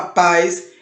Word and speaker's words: paz: Essa palavra paz, ela é um monossílabo. Paz, pronto, é a sílaba mais forte e é um monossílabo tônico, ok?